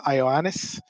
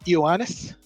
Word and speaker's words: Ioannis: of our contributors uh ioannis uh sorry ioannis it's pronounced with an e sorry although it's spelled with an i make that mistake um